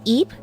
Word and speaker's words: Ib: And then another game I really, really like is IB. I think technically the pronunciation is EB. It's supposed to sound like the name Eve, but I like to call it just to like differentiate it from the game.